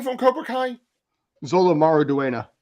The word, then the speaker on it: Xolo: Zolo Maraduena. Zolo.